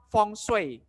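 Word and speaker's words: 风水: Feng Shui diambil dari kata dalam bahasa Mandarin. Ini namanya Feng. Feng. Feng. Feng itu artinya angin. Kalau ini namanya Shui. Shui. Shui. Shui ya. Yang artinya air. Jadi dibaca Feng Shui.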